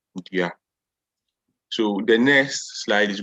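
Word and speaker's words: dua: two words, nipa and dia. However, I want you to notice something. The spelling of nipa here. The spelling of nipa is double N-I-P-A. That's nipa. And dia is D-U-A, dia.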